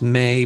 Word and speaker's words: ME: It's pronounced May, but it's spelled M-E.